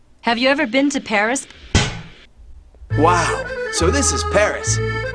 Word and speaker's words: Paris: you ever been to Paris wow so this is Paris I can't believe that I've never visited the capital of France before yeah well the locals pronounce it pari carmen's conducted a lot